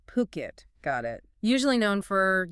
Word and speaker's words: Phuket: And let's get the pronunciation right up front. It's Phuket. Phuket, got it.